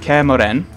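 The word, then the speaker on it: Kaer Morhen: So so we start in Kermoren. That's how you pronounce it, apparently.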